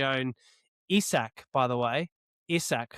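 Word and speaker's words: Isack: That said, speaking of Red Bull in P8 was um was their very own Isach by the way, Isach Haj, not Isaac. We've been pronouncing that wrong the whole time.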